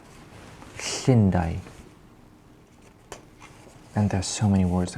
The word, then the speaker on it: Llundain: Basically, you produce the sound by putting your tongue to the roof of your mouth and just blowing and releasing air.